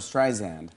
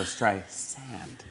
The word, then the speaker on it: Streisand: No, the funny part is on that track, she actually calls you Barbra Streisand. And you go, oh, thank you so much, but it's Barbra Streisand. That's right. S. With a soft Duh, Melissa.